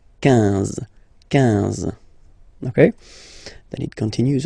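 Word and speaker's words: quinze: Same thing here, U doesn't exist, so 15, 15, 15, alright? IN, nasal, so it's 1, 1, 15, 15, okay?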